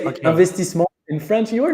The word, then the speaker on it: Investissement: So you say Investissement in French.